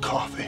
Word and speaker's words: Coffey: John Coffey, man. Like the drink. Only not spelled the same.